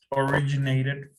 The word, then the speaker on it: originated: Okay, originated from. Remember, when we have a T, ED, aquí sí se pronuncia todo. Originated.